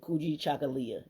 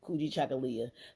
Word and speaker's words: Kujichagulia: regular page you'll see the banner for today cooi chakala is how you pronounce it kuoi chakala selfdetermination the second day of K Quanza U